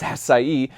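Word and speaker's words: açaí: And I tend to have my blueberries, my acai, acai, actually, it's pronounced acai, berries in my smoothie, along with bananas and strawberries.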